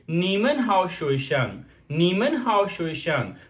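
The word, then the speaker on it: 你们好: सो किस तरह आप प्रोनाउंस करेंगे, यू विल से निन हाउ, निन हाउ। And next we have a नीमन हाउ।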